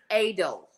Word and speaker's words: Adelbert's: It's pronounced adel.